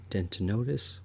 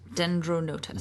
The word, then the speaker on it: Dendronotus: in particular the dentinotus. Dendronotus.